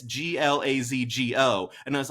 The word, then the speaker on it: Glasgow: And one person wrote, it's not Glasgow, it's Glazgo.